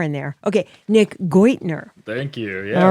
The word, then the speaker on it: Geudtner: Okay, Nick Geudtner. Thank you. Yeah, All right. Perfect. And it doesn't sound how it's spelled. Alex German? Or something? Yes, it is.